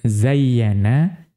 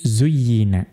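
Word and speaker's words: زُيِّنَ: Ya, bukan zayyana tetapi zuyyina. Bidommiz zayi dengan mendomahkan huruf zai mabnian lima lam yusamma fa'iluhu.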